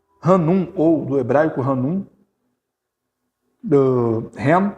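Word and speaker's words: חן: Ren é a palavra, ren, mas se escreve com CH, C-H-E-N, ren, que significa favor merecido.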